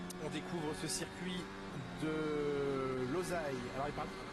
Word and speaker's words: Losail: On découvre ce circuit de Losail. Alors il paraît qu'on dit le Losail si on veut bien prononcer.